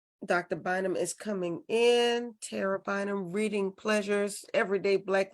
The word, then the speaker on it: Tara: are you I'm good it's actually Tara not Tara oh excuse me thank